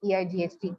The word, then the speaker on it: ate: Of course meer eat cheppindi correct e kaani manaki ikkada pronunciation similar ga undali kabatti ate, ate, EIGHT ate.